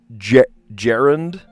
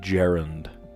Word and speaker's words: gerund: So that technically is also a gerund. Gerund. All right, I looked it up, and it's pronounced gerund. That sounds like somebody's name, but it's spelled wrong. Gerund. Like Gerald.